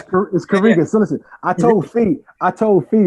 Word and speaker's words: Karega: Well, how am I pronouncing that right? Karega or Karega? Nah, it's all good. Kamai, gonna correct you. Listen, it's Karega.